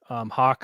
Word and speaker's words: Haugh: they asked, so his name's spelled Haugh, Yeah. and they said, "Why is it pronounced that way?" And he goes, "I don't know. That's how they always pronounced it."